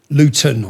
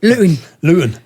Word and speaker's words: Luton: Luton. We don't pronounce our T's from Luton. That's like bottle, water. Luton.